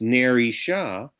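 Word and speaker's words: Nerissa: And just as Porsche's name has Hebrew phonetic resonance, Narissa, her handmaidaden's name, which can be pronounced Ner Sha and translates to candlewoman, has phonetic resonance.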